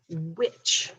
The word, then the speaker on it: which: our next word is which w h i c h again that silent h right here it follows that w and um it's w